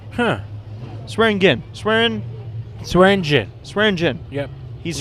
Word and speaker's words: Swearingen: It looked like Swearingen. Huh? Swearingen. Swearingen. Swearingen. Yep. He's Like the swearing drink. at his gin.